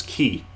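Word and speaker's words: き: up a single syllable you pronounce this is key key so it's like let's practice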